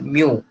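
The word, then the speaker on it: μ: It is a Roman alphabet, pronounced as mu.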